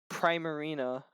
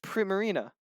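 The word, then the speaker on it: Primarina: Mons so sure Junior prime Marina marina no it's prima Rina not never not prime Marina marina oh you finally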